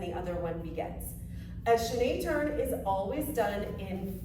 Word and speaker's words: chaîné: Hey dancers, in this video we are going to break down both a chaîné turn and a piqué turn.